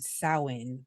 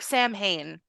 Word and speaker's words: Samhain: Oh, it's called Stalker, Saviors, and Samhain, or like Samhain. If you don't know what that is Halloween. It So looks like Sam Hain, yes, yes, but that's but it's not how you say pronounced it.